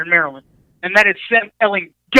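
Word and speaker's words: Ehlinger: Maryland, and that is Sam Elling. I hit that hard G there, Tom Herman.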